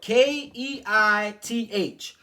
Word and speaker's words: Keith: all right now G my name is Keith it is spelled ke i t h okay now when he said it he was like what's up Keith he said it like Kei Like Chief Keef okay now when he